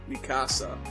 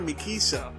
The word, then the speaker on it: Mikasa: these characters so wrong why are they not calling me Casa Mikasa they call her me Keisha it's